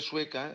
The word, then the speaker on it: Sueca: pregunta de per què Sueca té un parlar obert, podem dir que Sueca destaca per haver mantingut millor que en altres pobles la pronúncia típica de la A final, això que diuen sueca, cosa que també passa